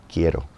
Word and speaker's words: quiero: quiero My vowels are short. I'm hitting that R.